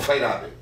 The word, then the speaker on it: Feyerabend: Feyerabend, como é? Feyerabend, a gente pronuncia Feyerabend.